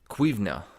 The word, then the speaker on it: cuimhne: They had to be a master of cuimhne, that's how you say it in Gaelic.